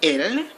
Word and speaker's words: ils: little bit weird but they are pronounced exactly the same as their singular counterparts although they are spelled